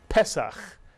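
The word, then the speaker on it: פסח: The segol under the first letter means we accent the first syllable. Pesach, mitsuyan, Pesach. And Pesach is the holiday of Passover, mitsuyan.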